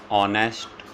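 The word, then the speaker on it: honest: राम इज़ एन ऑनेस्ट person, यहाँ पे H silent है।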